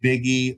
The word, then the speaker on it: Buege: Jeff Buege, pronounced Biggie, like the smalls for you non-Biggie types.